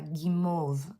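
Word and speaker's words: guimauve: Um, and they were learning de bomb for candy and also I think it was uh gimmov gim I think is how you say basically these sort of peeps in French.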